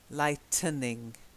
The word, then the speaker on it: lightening: Lighting, there's no n in the middle. Lighting. Then lightning. And then lightening. Okay. So you've got lightning. And then you've got lightening.